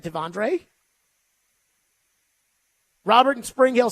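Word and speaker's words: T'Vondre: There is no R. It's Tavondre. Is that not what we've been saying? Is it Tivondre? I don't think so. I think it's Tavondre.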